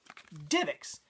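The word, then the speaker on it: DivX: going to go with divix cuz right there they spell it capital D lowercase ivx that's that'd be divix not D IX so I'm I'm like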